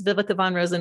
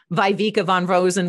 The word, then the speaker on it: Viveka von Rosen: you know my pronunciation hey this is biblica von rosen with vengreso it's not viveka von rosen with venguso um and then i